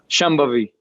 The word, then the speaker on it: Shambhavi: Can you pronounce Shambhavi? Shambhavi.